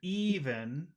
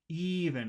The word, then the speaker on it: even: now in that word even which syllable has all of the Power e e even the first syllable even and you know you